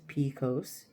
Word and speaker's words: PCOS: Polycystic ovarian syndrome PCOS often shortened and pronounced picose is a hormonal condition that impacts women in childbearing years believed to have a genetic component.